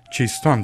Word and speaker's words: چیستان: باشند، معمولا با جمله چیست آن که چون تیز گفته میشه چیستان تلفظ میشه، چیست آن شروع میشه و مانند معما مغلق و پیچیده نیست.